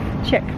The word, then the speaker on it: Chic: I they pronounce it chick well I would call it Chic cuz it doesn't have a K on the end yeah that's I think